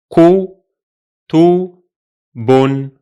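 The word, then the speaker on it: كُتُبٌ: As a result, the three syllables of this word are ku, tu, bun, ku, tu, bun.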